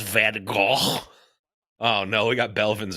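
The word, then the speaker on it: Van Gogh: Hey, uh technically it's pronounced Van Go.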